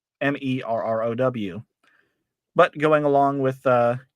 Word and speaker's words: Marrow: My last name should be pronounced Marrow, Merrow.